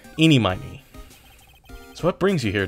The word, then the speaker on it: Ini Miney: from her name immediately some people say her name is Eenie Meenie but it's eenie miny and it'll make sense as to why it she's called eenie miny and not Eenie Meenie uh a bit later